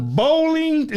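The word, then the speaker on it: Boling: So bowling, so it's pronounced like you bowl, right?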